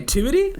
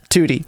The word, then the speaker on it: Tewtiy: Tu proper grammatical way toti toy I would say like it's like the number two and then the letter T toti so two Tod oh